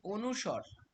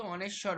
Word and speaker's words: অনুস্বর: শুনবেন হ্যা ভালো করে আমি বলেছি অনুস্বর আমরা কিন্তু অনেশ্বর বলি অনেশ্বর কিন্তু বলে না সঠিক উচ্চারণ হচ্ছে অনুস্বর তো এটা কিন্তু মাথায় রাখ সংবৃত কথার অর্থ হচ্ছে মানে বদ্ধ হয়ে যাওয়া।